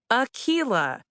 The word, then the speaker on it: Akilah: It's pronounced Akilah Hughes.